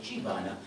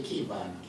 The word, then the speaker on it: Qivana: Pronounced as a key in a door. Although Asians say Qivana, it's actually Qivana.